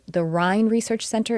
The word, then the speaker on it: Rhine: And if you've heard of the field, I'm sure, of parapsychology, there is a research center called the Rhine Research Center. It's spelled r h i n e, and it's the Rhine Research Center of Noetic Sciences, and they explore telepathy and clairvoyance and psychokinesis.